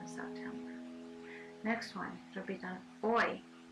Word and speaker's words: hoy: Next one, repitan, hoy. Hoy means today. The H is silent.